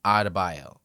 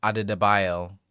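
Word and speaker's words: Adebayo: Bam Adabio like it's not Adio like Perkins says. It's not Ado.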